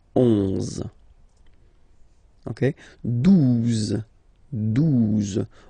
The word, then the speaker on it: douze: Douze, douze, O, U, the two together will give you the sound OU, okay? And then Z, douze, douze, alright?